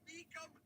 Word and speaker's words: Mecum: Let's find out how you pronounce Mecum. Mecum. That's what I said. That's what I've been saying. Mecum. I just called them Mecum Auctions. Mecum Auctions. Here, listen. Thank you for calling Mecum Auctions. Mecum Auctions. That's what I've been saying. Mecum Auctions. You guys saying I'm saying it wrong.